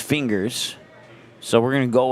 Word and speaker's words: Fingers: I was told that it's pronounced Fingers, so we're going to go with that until I'm told otherwise.